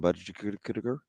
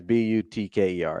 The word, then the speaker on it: Butker: But it's not butter. I know that. So the K is not silent.